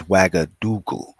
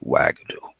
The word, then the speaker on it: Wagadu: know interestingly enough uh I believe the full pronoun pronunciation is wagadu but some people just call it Wago you know which is fine with me but um yeah